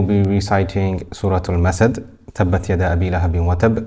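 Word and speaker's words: تَبَّتْ: You'll notice on tabbat, we pronounce the ta. Ta has the sifat of hams and shidda. So we will continue the breath slightly, but the sound will not continue.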